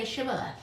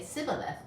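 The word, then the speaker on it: Shibboleth: would say no and they would say say shibala but he would always say sibaleth he couldn't say it right then they would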